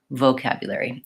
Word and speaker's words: vocabulary: The stressed syllable is the second syllable, vocabulary. And so that first syllable is unstressed. And so that's why you might be noticing it tends to have a reduced vowel. So I'm not necessarily holding that O for a long time, vocabulary.